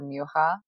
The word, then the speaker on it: Mucha: and by the way I didn't know that you are supposed to pronounce his last name as like either Misha or muha yeah that's I think check us the Czechoslovakian way of pronouncing it oh I like